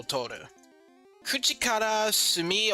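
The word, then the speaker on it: 墨: So if you if you're practicing calligraphy or like Japanese writing, you use Sumi. Sumi is how it's pronounced.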